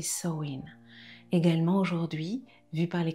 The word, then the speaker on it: Samhain: païenne nous emmène vers Samaine prononcé soin également aujourd'hui vu par les chrétiens la fête de la Toussin.